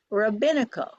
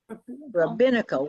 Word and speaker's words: rabino: we're not that huge the second word is Rabino Rabino one word one one accent try it Rabino Rino if you put it together it sounds